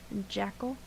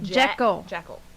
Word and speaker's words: Jekyll: Jackal. Jackal. Jekyll.